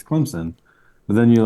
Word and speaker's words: Clemson: Is it Clemson or Clemson or something else? Like, are you familiar with this? A lot of people pronounce it where, like, there's a P in it. Yeah. Clemson, which I feel like